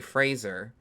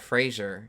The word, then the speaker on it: Fraser: with Brandon phrase Fraser I heard his real name is actually Fraser oh yeah it's not Frasier he was like people